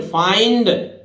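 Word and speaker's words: find: इसी तरह देखिए एफ के बाद आइंड, फाइंड, फाइंड मतलब आई एंड। देखिए सीधी सी याद रखना है कि आई एन डी को आइंड पढ़ेंगे, आइंड, ठीक है।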